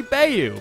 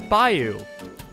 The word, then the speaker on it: bayou: thing, which I guess makes sense for the pronunciation. Sorry, Louisiana, but it's clearly Bayou, but apparently it's Bayou.